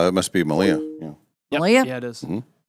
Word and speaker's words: Malia: Malia.